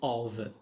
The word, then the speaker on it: of: We have also in the bottom of, which means في الأسفل, in the bottom of. Here F it is pronounced V.